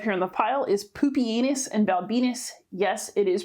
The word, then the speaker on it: Pupienus: bot i have here on the pile is poopianus and balbinus yes it is pronounced poopyanus it's probably a good thing that the romans